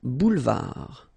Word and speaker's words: boulevard: Un boulevard. Final D, not pronounced. Un boulevard.